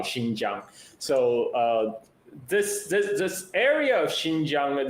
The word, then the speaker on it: Xinjiang: Is Xinjiang, right?